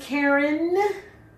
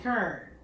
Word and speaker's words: Karen: Well, my name is Karen, or they pronounce it in the DMV Kern. Kern.